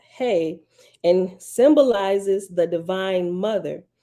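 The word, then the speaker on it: ה: right okay laughs that second letter is hey pronounced hey and symbolizes the Divine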